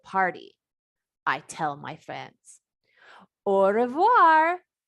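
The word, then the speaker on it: au revoir: I tell my friends orir you say it like this orir that's French for goodbye on my door I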